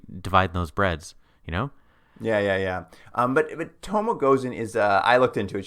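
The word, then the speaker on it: Tomoe Gozen: I'm going to pronounce the character's name wrong, I think. Is it Tomo Gozen? Yeah, Tomo Gozen, our first historical figure who pops up.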